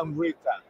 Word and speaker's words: Amrita: Amrita. Yeah. Like, okay. I like it. It's like I'm saying I'm Rita, but it's Amrita.